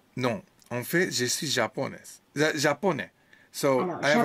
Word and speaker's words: japonais: Ouais, Yes, my japonais. mistake. So if it's male, japonais. And Oui, female, japonais. japonaise. Femelle, oui. Hein, So the japonais. S is silent here, but not silent here.